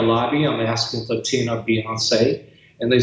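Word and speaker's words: Beyoncé: Her maiden name is Beyonce, and I spelled it B-O-Z-S-A-Y, Beyonce, so that I could pronounce it.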